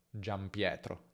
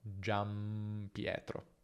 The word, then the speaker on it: Giampietro: un unico nome Giampietro, ma in ogni caso quella N si pronuncia M, Giampietro, Giampietro.